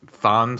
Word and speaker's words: Chthon: The one was Thon, spelled like Thonic or Chthonic.